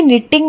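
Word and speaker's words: knitting: नो निटिंग honest Sam अब देखिए कि निटिंग में के और दूसरी टी का उच्चारण नहीं हुआ बोलने में निटिंग ही आया इसी प्रकार समम में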